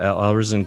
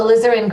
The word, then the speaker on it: alizarin: one uh how do you say that again alvison crimson oh alizarin crimson yeah that was that was i don't